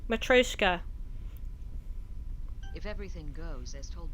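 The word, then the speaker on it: matryoshka: that can be collected matreshka now I know how to say it matroska if everything goes as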